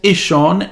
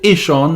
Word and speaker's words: Ihsahn: Yes, his name's Ihsahn and the album's called Ihsahn. That's how you pronounce it.